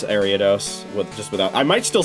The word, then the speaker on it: Ariados: That's how you pronounce Ariados, just without...